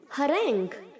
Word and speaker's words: harangue: यहाँ पर जो बच्चों जी के आगे यू ई है उसे हम प्रोनाउंस नहीं करेंगे। इसे आप harangue या harangue नहीं बोलेंगे, इसे आप बोलेंगे harangue। यू ई साउंड नहीं करेगा।